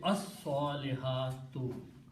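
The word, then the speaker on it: الصَّالِحَاتُ: So it becomes al salihatu, and swad is a shamsi letter, so it gives the sound of lam. So the pronunciation will be as-salihatu.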